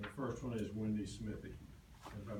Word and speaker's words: Smithy: And the first one is Wendy Smithy. If I mispronounce your name, I apologize. It's been mispronounced the whole time I've been married, so. So so then Cheryl, how is it pronounced? It's Smithy.